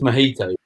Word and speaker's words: mojito: I think it's pronounced gone. No. It's mojito. Yes.